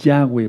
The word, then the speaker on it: Yahweh: las derramas sobre la faz de la tierra Yahweh su nombre Aleluya Jehová no es un hombre es allá Es Yahweh Porque jayá pueden buscar un vídeo que le